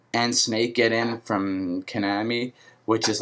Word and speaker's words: Konami: And since, Konami, yeah, let's say it properly, Konami is a Japanese company as well as Square Enix, it makes me think maybe Snake could possibly be announced.